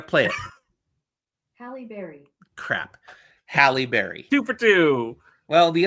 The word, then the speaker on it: Halle Berry: sure I'm gonna play it hi Berry crap Halle Berry two for two well the other person who